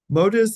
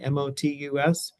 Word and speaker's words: Motus: Modus is a large network of towers across the Western Hemisphere. And here's the website. So it's Motus spelled with a T, Motus.